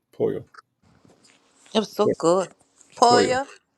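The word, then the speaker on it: pollo: So, um, uh, po, you don't pronounce the L's. Poo.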